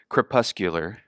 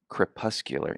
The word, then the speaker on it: crepuscular: of them but here's the first one I'll pronounce it for you because I looked it up ahead of time crepuscular crepuscular anybody know what that means just guess out